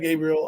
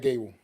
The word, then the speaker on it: Gable: is his name we it's Chad Gable it's just Chad Gable I thought yeah well